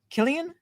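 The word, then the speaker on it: Cillian: Um is it pronounced Sillian? Killian.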